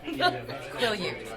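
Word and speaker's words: Quileute: Quillute. It's quillute.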